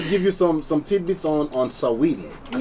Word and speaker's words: Saweetie: We're going to give you some tidbits on Saweetie.